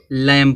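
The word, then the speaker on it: lamb: कॉम कंगा होता है इस तरह से आप इसको लम बहु लोग पढ़ते य क्या लम है देखो यम के बाद बी आया है तो बी जब आया तो बी साइलेंट रहेगा तो इसको क्या पढ़ा जाएगा लम पढ़ा जाएगा लम माने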